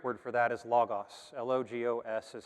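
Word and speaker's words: λόγος: here the greek word for that is logos l-o-g-o-s is how that would be written in english it's pronounced logos and it actually translates to meaning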